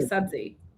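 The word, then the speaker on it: sabzi: So subji is a real word, but it's an offshoot of subzi.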